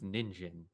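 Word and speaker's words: 人参: as mai or san but in carrot is pronounced jin which is weird because jin is one of the common pronunciations for a person but person is pronounced as nin in carrot so it's ninjin and i always thought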